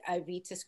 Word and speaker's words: Aevitas: We have Natalie Jerome from the literary agency at Aevitas Creative. Did I pronounce that right?